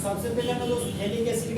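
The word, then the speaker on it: phthalic acid: Compound को बोलते हैं थैलिक एसिड। थैलिक एसिड का नाम हो गया दोस्त पीएच थैलिक एसिड। जहां पर पीएच आपका साइलेंट होता है दोस्त, इस कंपाउंड का नाम हो गया थैलिक एसिड।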